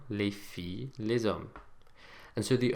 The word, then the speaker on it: filles: Now notice that the S that we've put on the end of each of these words to make them plural, as we've already seen, is silent. Les chiens, les filles, les hommes.